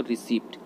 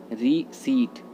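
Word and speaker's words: receipt: रसीद तो हिंदी वर्ड हो गया, इंग्लिश वर्ड, इंग्लिश में हम बोलते हैं इसको रिसिप्ट, जो कि गलत होता है। सही होता है रीसीट, रीसीट, ओके।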